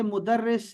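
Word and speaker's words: مدرسة: जैसे मुदर्रिस से मुदर्रिसा, मुदर्रिसा, इसका प्रोनाउंसिएशन तलफ़ुज़ बिल्कुल सही चाहिए मुझे, और वो ऐसे होगा कि ज़बर ज़ेर लगाने से या रोमन में लिखने से, जो मैं कह रहा हूं मुदर्रिसा, आखिर में एच आएगा, ठीक है।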